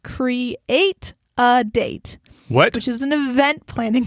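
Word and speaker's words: CRE8AD8: eight a d a.d numeral 8 which is pronounced create a date which is an event planning company in san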